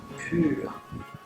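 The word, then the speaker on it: πῦρ: Dans la langue des oiseaux, dit Fulcanelli dans son livre Les demeures philosophales, le mot grec pur, qui sert à désigner le feu, se prononce comme le qualificatif français pur.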